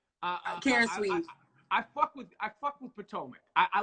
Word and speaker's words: Potomac: So I'm hyped for Potomac.